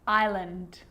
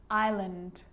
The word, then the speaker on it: island: word is not pronounced now an s can also be silent and i know that you've already struggled with this one island island debris debris and i'll